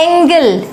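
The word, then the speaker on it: angle: और वो है एंजल तो ऐसा क्यों है कि यहां पर जी को हम पढ़ रहे हैं ज और यहां पर जी को हम पढ़ रहे हैं ग ऐसा क्यों ये वाली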